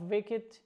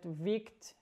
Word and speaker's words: wicked: a criminal a very wicked person as you can see I've written the pronunciation of wicked blow it because I know some students pronounce it vicked and it is wrong and examples the villain